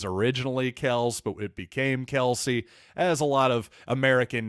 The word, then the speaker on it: Kelce: Remember when Travis Kelce said a couple years ago that, actually it's pronounced Kels, and we all collectively decided, too late, Travis.